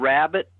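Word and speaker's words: Wrabit: are you familiar with a band called rabbit spelled with a w w-r-a-b-i-t no they were from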